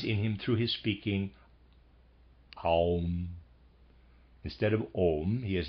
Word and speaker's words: Aum: So there's a picture of Om, O-M, and below it the O has a line going to an Ah and a line going to a U, so you have Aum. So we have Om and Aum.